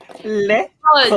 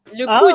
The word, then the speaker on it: le coude: It is le code. Ay. Le. Code. Le code. Le code. If anyone's Le not code. familiar with Ah, French but you Le know code. Pronounced like that, le code. Yeah. Code. It's le coude. Oh, Le coude.